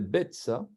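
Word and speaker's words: ביצה: On ne prononce pas le yod ici, c'est Betsa.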